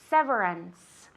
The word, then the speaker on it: severance: Ok, recordad que la CE y la CI en inglés es un sonido como la S. Severance.